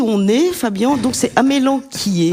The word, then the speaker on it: amélanchier: Alors, dit-on amélanquier ou amélanchier, comme j'ai entendu certains le prononcer. C'est pas beau ça, amélanchier.